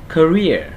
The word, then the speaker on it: career: Rồi chúng ta sẽ đọc là âm này chữ k với chữ ơ chúng ta sẽ đọc là cur cur career career career được không các bạn?